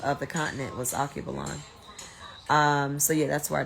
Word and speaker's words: Alkebulan: So he or she said, Alkebulan. It's spelled Alkebulan.